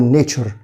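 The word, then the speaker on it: nature: طبعا TURE بنطقها زي صوت الشه، بول نيتشر.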